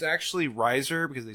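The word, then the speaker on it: Reiser: It's actually Riser because they spelled it wrong because everyone was So convinced how do you spell it?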